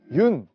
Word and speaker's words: 윤: 여기 보시면 이 있는데요 많은 분들이 아마 그 윤 이제 윤이라 읽거든요 연이라고 읽으실 수도 있고 뭐 여러 가지 방법을 읽고 싶는데 그 윤영근 화백 님의 성입니다 그래서 외국에서는 윤이라고 많이 부르기 때문에 제가 그 윤이라는 그